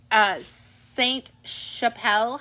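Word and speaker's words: Sainte Chapelle: This is the Saint Chappelle hat. And the reason why you pronounce the T is there's an E at the end of it.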